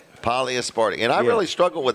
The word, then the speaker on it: polyaspartic: Polyasparatic. Yes. What's it called? Polyaspartic. Polyaspartic.